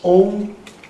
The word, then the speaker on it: Om: We will pronounce 3 times, and the first Om pronunciation, in this O will be long and Ma will be short. Did you get my meaning? Это упражнение будет состоять из 3 циклов. Сначала мы делаем глубокий вдох и на выдохе произносим 3 раза Ом. Первый раз О будет длинным и М будет коротким. And second time we will shorten the length of O and extend the length of Ma.